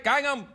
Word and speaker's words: Gangnam: Gangnam.